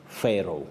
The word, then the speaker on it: Pharaoh: Betty, in English, Yeah. we say Pharaoh. Pharaoh. That is in English. Okay. You'll hear of Pharaoh or Firauni Yes. in Kiswahili. But when you come to English, it's Pharaoh.